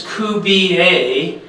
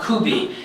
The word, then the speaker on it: Kubié: And by the way, it's Kooba. That accent on the N makes it not Kooby.